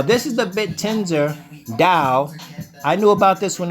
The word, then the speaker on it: TAO: can look up uh Dow even though it's a t it's pronounced with a d that's what I'm trying to get you guys understand all right now this is the bit tender Dow I knew about this